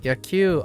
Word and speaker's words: 野球: Yaku. Oh, I've been mispronouncing this. I thought it was Ya. Q.